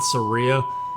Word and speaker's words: Saria: Oh, cute Ocarina, Saria song, okay. I know people say Saria. That might even be the proper pronunciation, but I always said Saria, like Maria.